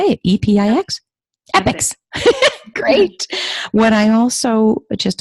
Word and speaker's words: EPIX: Epics.